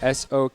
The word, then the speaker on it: Sokratis: Well, Socrates, like the philosopher, Socrates. That's your final answer for Yes. No! it? Okay. Sokratis. I thought it would be like Socrates.